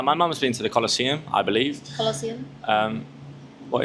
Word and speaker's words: Colosseum: The next one is colossium in in Italy. Am I correct? That's why I need Can you uh pronounce that again for me, please? The Colossium. It's the Colosseum.